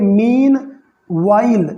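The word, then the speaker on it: meanwhile: देखिए यहाँ पर एच साइलेंट है, इसे पढ़ेंगे मीन वाइल, नॉट वाइल।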